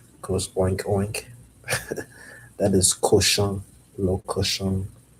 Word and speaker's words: cochon: That is cochon, le cochon. Spelled c o c h o n, le cochon. It's really It kind of sounds like cauchemar.